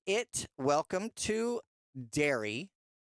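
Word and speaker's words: Derry: I always want to say Darby for some reason, but it's dairy, but it's not spelled like the cow dairy. It's spelled like the uh town. D E R R Y.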